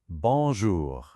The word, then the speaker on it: bonjour: Bon. Then we have J O U R. It's got our guttural R at the end. Now, is that R silent? No way. Because R is one of our careful letters, so we have to say it.